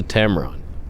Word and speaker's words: Tamron: am that's for sure he's a Tamron in rhymes with tampon one little turn and